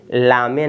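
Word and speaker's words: lame: आप इसको क्या पढ़ेंगे ला मेंे नहीं लेम क्या है ये आपका लेम है ई जो है साइलेंट है ई का उच्चारण नहीं करेंगे ठीक है ना एल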